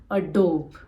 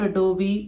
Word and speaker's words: Adobe: and it is Posh this is pronounced as a dope it is a dome not Adobe not a dope it is Adobe a dope so this is a